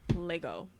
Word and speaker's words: Lego: Lego. Lego. There is no S.